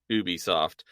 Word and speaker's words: Ubisoft: oh it's just doing Ubisoft and I will pronounce it Ubisoft not Ubisoft because they say a Ubisoft original on them not an Ubisoft original and I hate that